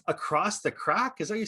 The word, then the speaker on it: craic: Across now, you say it's across the crack? Is that you say, or is that you say crake, or across the shuck?